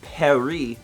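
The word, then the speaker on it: Paris: bonjour steven ett now i'm on a trip to perry that's how they pronounce it in france and just went to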